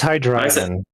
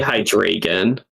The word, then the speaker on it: Hydreigon: It's Hydreigon. I say Hydreigon. Which is wrong. I always want to say hydrated, but Uh the It's a German pun.